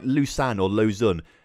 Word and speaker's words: Lausanne: saying fun sevre like like loose an oar Lausanne it's it's a little it's spelt low San or low San or loose